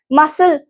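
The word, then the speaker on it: muscle: मसल, सी को pronounce नहीं किया।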